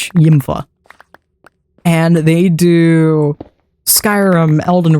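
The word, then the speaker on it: Ymfah: straight up watching is Yimpfa. I'm not sure if you're even supposed to pronounce that username, but it is Y Mf ah Yimpfa.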